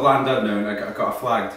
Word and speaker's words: Llandudno: We're in the Welsh lands and a place called, we called it Llandudno. Apparently that's wrong. It's actually pronounced Llandudno.